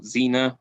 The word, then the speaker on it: Zener: you are familiar with these were the zener cards or xena and different pronunciations depending on british or american for these but carl zena developed